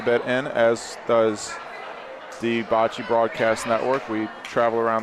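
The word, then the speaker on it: baci: in the store all that's spelled with an a though isn't it's B ACI but that's how it's pronounced Bachi well for those of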